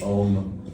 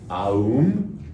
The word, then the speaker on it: Om: We've sort of like in the West taken and made Om for ourselves. It's actually Aum. If you really want to say it, pronounce it correctly, it's Aum.